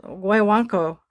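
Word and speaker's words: Guaguancó: is the Didn't he do pronunciation. Willy Guaguanco Wonka?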